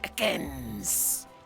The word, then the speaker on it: Ekans: Ekans! It's like a hard S at the end. All right, that's all I got. It waits on the S. It's like a separate syllable.